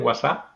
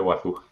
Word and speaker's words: Wazuh: En Estados Unidos dicen WhatsApp, porque el UH es como el A del susto. Y bueno, en España decimos siempre Wazoo.